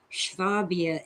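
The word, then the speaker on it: Schwaben: Yeah, we call it Swabia with an SW, but in German it's Schwabia, SCHW.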